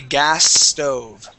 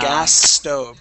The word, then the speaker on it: gas stove: So actually what we want to do is combine the S sounds. So we don't want to pronounce two S's. We want to pronounce one S and say gas stove. You hear how I combine that?